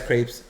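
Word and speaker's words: crêpe: Yeah, it's crepes. It's crepe. It's crepe. But here it's pronounced crepes.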